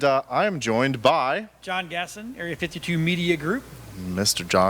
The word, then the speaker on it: Gaston: It's Anybody who's ever watched Disney, right, should know. Have you not seen Beauty and the Beast, people? Come on. Right, Gaston. Yeah, Gaston.